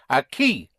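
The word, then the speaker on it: aquí: The word for here is a key. How would you spell a key? The the K sound in Spanish is spelled with a quu. So a key would be spelled A Q U I with an accent.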